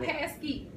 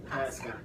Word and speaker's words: Pascal: Not Pasky. Pascal. Am I saying it right?